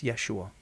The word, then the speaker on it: Yeshua: right we know but you're saying his name wrong it's yeshua my brother are you